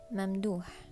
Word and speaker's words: Mamdouh: mamdouh, mamdouh, Dua? It sounds like mamdouh. Mamdouh. Wow, every time you say this person's name, you gotta exhale.